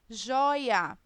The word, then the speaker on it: joia: Joia. Né? Quem é a sílaba tônica de joia? Joi é a penúltima sílaba.